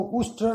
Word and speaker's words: उष्ट्र: संस्कृत में ऊंट को उष्ट्र कहते हैं, जबकि कालिदास उट्र कह रहे थे।